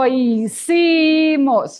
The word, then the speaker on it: hicimos: The H is not sounding, so let's do it. Lo hicimos. Again, lo hicimos.